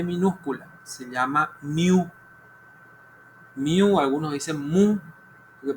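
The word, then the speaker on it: μ: Pero su pronunciación es mu.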